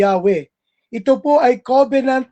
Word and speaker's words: Yahweh: Yung word na Lord sa Hebrew description ay makikita natin it is a tetragrammaton na YHWH na ang pagkabigkas ay Yahweh.